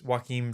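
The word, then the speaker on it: Joachim: uh directed by uh it's pronounced it's pronounced like joaquin just with an m yeah that's it's joakim trier who i have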